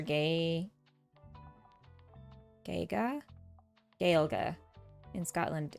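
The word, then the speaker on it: Gaeilge: In Ireland, we say either Irish or Gaelga.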